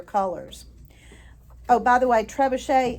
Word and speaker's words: trebuchet: Oh, by the way, trebuchet is spelled like tree bucket, Trebucket, but it's a French word, so you pronounce it trebuchet.